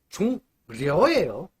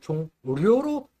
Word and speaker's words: 종려: 종료가 아니에요. 여러분, 종려예요. 실수하지 맙시다. 누구는 종료로 발음을 하는 경우도 있어요.